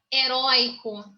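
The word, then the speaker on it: heroico: Olha lá, heróico. O forte é na segunda sílaba.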